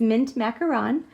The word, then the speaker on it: Mint Macaron: finally learned how to say it right it's mint macaron and this card stock is cut at 5